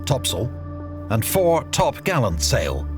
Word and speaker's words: topsail: Her large square sails included the fore course, fore topsail, pronounced tops'l, and fore topgallant sail, pronounced fore-t'-gallants'l.